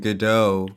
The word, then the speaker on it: Godot: it's i don't know i just feel like godot is two real words put together and godot godot is like easier to say the t is silent so anyway guys um